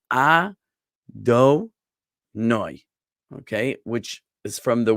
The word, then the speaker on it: Adonai: The name of God that we say in place of the tetragrammaton, this 4-letter name, is we say Adonai, okay, which is from the word Adon, meaning Lord or Master.